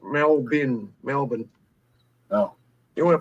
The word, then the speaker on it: Melbourne: in a now and now it's spelled Melbourne but it's just melbin Melbourne oh you want